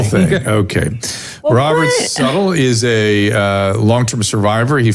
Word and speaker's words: Suttle: And Suttle, I believe, is how you pronounce his last name.